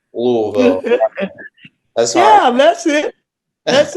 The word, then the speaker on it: Louisville: It's Louisville. It's just, you got to put a bunch of marbles in your mouth. Louisville. Okay. Louisville.